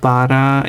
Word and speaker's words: bara: Do you know that Bara is, or pronounced Bara, is Swedish for only? Like just.